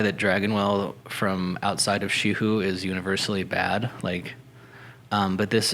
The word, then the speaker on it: Xi Hu: And the region's pronounced Shihu? Shihu, Xihu. Nice. Yeah. Shihu.